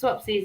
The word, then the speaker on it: Swapsies: it's definitely a day i hope i'm pronouncing your name right you're from a a really cool place i've checked out your website swapsies is that right is that how you pronounce it that is yes swapsies it stands for swap